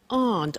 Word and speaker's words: aren't: So the difficulty here is the pronunciation of are not, which is aren't.